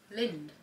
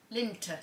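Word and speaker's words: Lindt: Lind. Linter. Lint. Why there's a D? You must have to pronounce the D.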